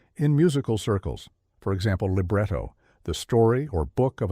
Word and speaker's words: libretto: Libretto is pronounced libretto, libretti is libretti, concerto is concerto, and concerti is concerti.